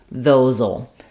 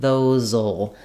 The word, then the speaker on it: those'll: write "those will," but what we tend to say there is "those'll." So this SE is a Z sound voiced in this word, so I'll rewrite that as a Z. And then in contractions with "will," we just say the ul, the dark L sound, "those'll." So it has a little bit of a schwa sound, and then my dark L, "those'll," "those'll."